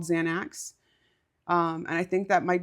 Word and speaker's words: Xanax: It's like not axe.